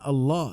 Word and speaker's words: Allah: maknanya akan kita sebutkan sehingga dibacanya dengan Allah dengan ada tafkhim berat ketika membacanya dan nama ini dalam